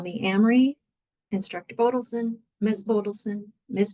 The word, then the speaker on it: Amery: so my name is Amry it rhymes with cry like the car if that helps last name is Bon you can call me Amry instructor bodon Miss bodson